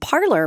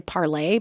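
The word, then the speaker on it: Parler: You know, there's a social media site called Parlor, which is actually parlay, by the way. I believe it's pronounced parlay. It's a French word that means to talk, to speak.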